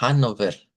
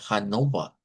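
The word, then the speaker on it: Hannover: Entonces, lo primero es eso, que aunque la ciudad se escribe con no se pronuncia Hanover, se pronuncia Hanova, porque los locales de ahí no usan ere al final, vea.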